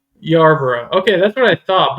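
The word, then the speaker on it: Yarbrough: But the R is actually right after the B. It seem like it's Y bro. Isn't that what you just said? Yuro. I'm putting a little R.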